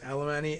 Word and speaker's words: Alemany: by jacqueline alemany is did you pronounce it with that many uh syllables alemany and josh dawsey both